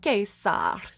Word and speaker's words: Caesar: I call him Cicero because there was no soft C in ancient Latin, which I studied classical Latin. Cicero and Caesar is the way I would pronounce those words, but I'm probably doing it wrong.